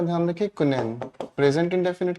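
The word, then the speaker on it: quinine: हमने लिखा कुनैन, इसकी प्रोनाउंसिएशन का ध्यान रखें, कुनैन।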